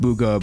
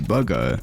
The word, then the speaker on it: Bugha: Because of this, Bugha would get hooked very early on and eventually would come up with his name, which isn't pronounced Bugha but actually Bugha.